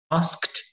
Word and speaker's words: asked: It's written asked, but when you pronounce it, we say asked. Asked.